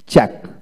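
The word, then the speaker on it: cheque: Word এর মধ্যে কিউ ইউ ই থাকলে এদের ক্ষেত্রে ইউ ই এর উচ্চারণ হয় না। লক্ষ্য করেন, চ্যাক চ্যাক, সি এইচ ই কিউ চ্যাক, এখানে ইউ ই উচ্চারিত হবে না।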